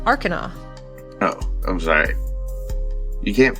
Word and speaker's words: Arcana: or uh technology check which is Arana I believe you'll find it's pronounced Arcana oh I'm sorry you